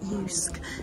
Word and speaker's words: JYSK: been to this um you actually pronounce it Yus um store it's in